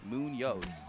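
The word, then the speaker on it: Muñoz: Munoz.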